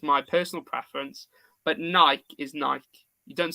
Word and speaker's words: Nike: you ask anyone in America they'll say it's Nike as well so it is Nike but us people in the UK do not say Nike we say Nike so alarm off NC